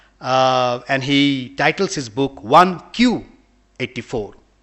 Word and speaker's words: 1Q84: he titles his book 1q84 q in in japanese 9 is pronounced as q so because 1984 is no longer here we are living in beyond 1994.